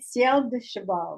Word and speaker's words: Ciel du Cheval: I have to say the correct pronunciation. I think this will be 2020 Ciel de Cheval red wine.